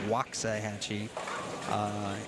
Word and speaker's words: Waxahachie: I say that correctly it's spelled Waxahachie but it's Waxahachie in April I believe